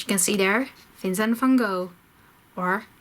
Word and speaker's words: van Gogh: As you can see there, Vincent van Gogh or Vincent van Gogh. Maybe you learned something. Now you can know how to pronounce his name in Dutch.